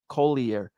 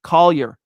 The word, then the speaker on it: Collier: We've been calling him mostly the Triple C or Colby, but when we say his full name, we've said Kolier. No, no, no. Collier. Collier. Thank you, pal, for that.